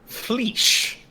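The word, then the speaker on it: flysch: Fleesh.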